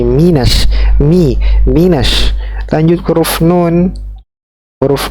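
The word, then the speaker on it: مِنَ النَّاسِ: Mi, ingat kaidah pengucapan kasroh, jangan me, bukan menash, tapi minash.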